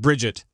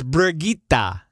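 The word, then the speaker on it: Brigitte: Brigitta it's Brigitta we're getting wet it's it's pronounced Bridget that's not true just make sure everybody gets angry no it's brigita so if I ever stream over watch I'm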